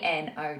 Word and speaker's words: know: no remember it's k n o w but the um the K is silent and the W is silent so you just pronounce it as no as in n o